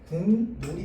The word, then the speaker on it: 국물: 합니다 알겠죠 자 그래서 여기 지금 보면은 국물이 여기에 받침 기업이요 여기 뒤에 있는 초성 미음을 만나 가지고이 기역이 이음으로 발음됩니다 자 그래서 그래서 최종 발음은 어떻게 되느냐 궁물이 됩니다 궁물 자 그다음에 닿는 반만 다